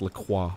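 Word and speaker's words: La Croix: company laqua um but they do call It lroy in America they do even though it is pronounced laqua yeah we're lroy boys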